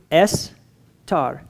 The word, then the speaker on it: Esther: And in Hebrew, Estar. Esther.